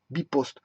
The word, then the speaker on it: bpost: Bon, en Belgique, ceux qui s'occupent de la poste, c'est bien sûr B-Post, Bipost. Ça s'écrit B-Post.